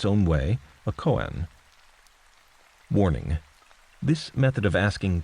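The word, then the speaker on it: koan: throwing in a Coen a Coen pronounced Coen or perhaps Cohen even is a paradoxical statement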